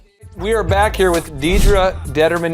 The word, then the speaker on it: Determan: We are back here with Deedra Determan, not Determan. Stop pronouncing it wrong. It's Determan. That's right.